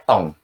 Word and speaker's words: ton: Tapi itu artinya punya kamu, itu bacanya tong. Ya. Di sana TON, bacanya tong. Ya, tong. Tong, tong, tong, kayak tong.